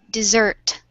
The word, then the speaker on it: dessert: is the stress is in the first syllable. On the other hand, dessert is in the second syllable.